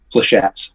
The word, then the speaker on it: Flechettes: Flechettes.